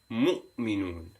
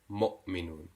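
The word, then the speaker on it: مؤمنون: of the letter, and is pronounced as u, a sharp upward pronunciation, u instead of o. And we gave an example of mu'minun instead of mu'minun.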